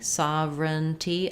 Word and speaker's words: sovereignty: great question about how many syllables to pronounce in the word uh sovereignty sovereignty i would say three syllables um we do have